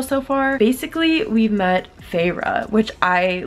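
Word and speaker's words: Feyre: met pharah which I literally thought her name was fair at the beginning and I also thought she was a boy but then I discovered her name is pharah because they show how to pronounce it and she's a girl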